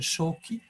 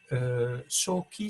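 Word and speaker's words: 鍾馗: en japonais il s'appelle shoki shoki c'est la lecture japonaise de ces deux idéogrammes excusez moi la lecture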